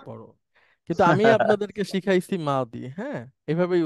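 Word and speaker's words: ماضي: দেখবেন এভাবে আল মাওদি মানে হচ্ছে অতীতকালীন ক্রিয়া মাদ্রাসা এটাকে মাঝি বলা হয় এই যে মাঝি মানে দত কে বর্গীয় জ দিয়ে দিয়ে উচ্চারণ করা হয় সব স্কলার এভাবে মানে আমাদের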